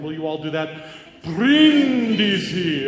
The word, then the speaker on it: Brindisi: A lot of people will walk in and say Brindisi, but it's not. It's Brindisi. And then if you have